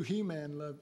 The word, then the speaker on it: Heman: A guy named Heman, or you could pronounce it He-Man.